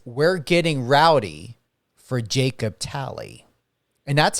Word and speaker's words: Talley: and it says we're getting rowdy for Jacob tally and that's how you pronunciate your last name right is it tally y that's correct yes sir see I knew